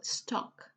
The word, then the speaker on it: stalk: in the previous lessons you have a silent ill so you don't pronounce the L stock alright so let's see